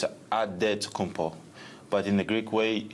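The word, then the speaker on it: Antetokounmpo: to say with a D so it's a dead compo but in the Greek way you say with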